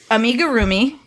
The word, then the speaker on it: amigurumi: So it's specifically amigurumi, which is the Japanese art of crocheting little stuffed animals.